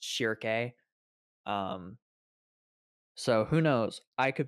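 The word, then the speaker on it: Schierke: I was pronouncing Shirke wrong the entire time before. I was calling her Shirk. Shirk. But it's pronounced Shirke.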